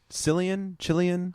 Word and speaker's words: Cillian: So is it Cillian? Hard C. Killian? Hard C. It's just Killian.